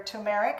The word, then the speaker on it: turmeric: an interesting flavor with that turmeric or tumeric however you would like to pronounce it and a little bit